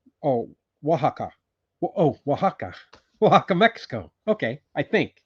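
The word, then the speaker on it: Oaxaca: Hello from Waka. Oh, Wajaka.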